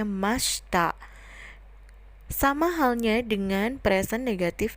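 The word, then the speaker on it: ました: pas positif diakhiri dengan kata mechta tulisannya Masyita tapi dibacanya Masta Sama halnya dengan present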